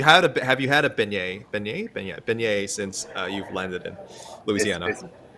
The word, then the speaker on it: beignet: Beignet since you've landed in Louisiana. Is beignet. Uh beignet, excuse me. Yes, a bignet. Um I tal I talked around. Yeah. Turns out everyone's mispronouncing it.